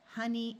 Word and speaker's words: honey: In these three words, the O is going to schwa and sound like a short U. So we have money, honey, and monkey.